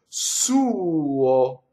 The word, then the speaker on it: suo: The U is the stress. Suo. And the O is the weaker part of it, but both of those vowels are formed completely.